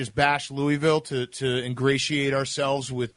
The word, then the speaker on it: Louisville: bit at is to wait for a Yankee to come down here and pronounce it Louisville and just to kind of stab you and say hey it's it's Louisville and I've kind of taught myself to have that like gargle in the back of my throat whenever I'm pronouncing it just to not piss him off but um yeah